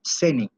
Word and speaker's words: cenae: disertaciones, que se llamaban ceni. La palabra cena viene de ahí. Ceni se escribe cenae, con C, cenae.